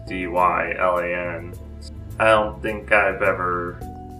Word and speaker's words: Dylan: oh and Dylan but I spell my name d y la and like Bob Dylan and people also pronounce it a dial and like really really never